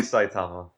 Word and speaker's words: Saitama: really enjoyed about uh sait's character am I saying this right I'm saying Sait and you guys are saying saitama am I putting emphasis on the wrong salable it's it's probably saitama okay saitama saitama saitama it's